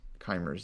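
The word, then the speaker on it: Keymer: correct way to pronounce Kimer's name, last name? Um, I mean, saying Kimer is fine. I guess if you were to say it German, it might be more like Kaa.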